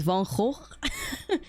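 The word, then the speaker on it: Van Gogh: the van go but I pronounce it in the Dutch way because like the art looks very like I mean not even really vanoi but like you know we call him the incredible Dutch pronunciation of vano which is Von I need to pronounce it better Von there you go everybody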